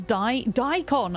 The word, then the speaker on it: daikon: It's daikon.